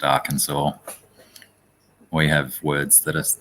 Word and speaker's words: Arkansas: a rule hmm Arkansas yeah I know it's pronounced Arkansas we have words that are not phonetically spelt